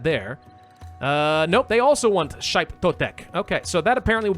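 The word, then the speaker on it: Xipe Totec: In this case, a shrine to, I think that's Shaip Totek, something like that. The X is pronounced a little bit differently.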